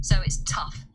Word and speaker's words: tough: So it's tough. It could easily be spelled t u f. That's how it sounds.